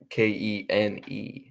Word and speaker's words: Kene: Spell it. His first name's Kene, Kene.